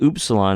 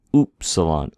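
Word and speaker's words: upsilon: like a pronounced like an English T and oops Salon is pronoun U it's pronounced like the ouu in group O oops Salon oops Salon there's we have another vowel so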